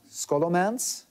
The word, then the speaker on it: Scholomance: your book is called i hope i pronounce it right uh scholomance yes very well i had to practice all day everybody's comments comments comments and um it is not school and romance right what is it about